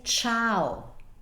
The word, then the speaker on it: ciao: me show you something how do you say this word you say ciao ciao if we didn't need